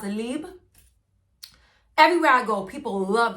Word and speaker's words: Libre: In French, it's pronounced Libre.